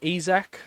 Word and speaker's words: Isak: of players most notably Alexander isak which is how you say his name ezek I did look up